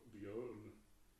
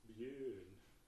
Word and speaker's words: Björn: They pronounce not Björn or Björn. They pronounce it Björn. So it's the in a Björn, Björn, Björn. It sounds really funny. So it should be Björn.